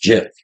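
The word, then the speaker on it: GIF: agree in that one G is pronounced jip okay that did come from the guy that the Creator said yeah shoot I agree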